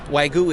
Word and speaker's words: wagyu: i can't pronounce it wagyu it's like a silent y in the middle yes it is what's uh what kind of is this wagu is a breed of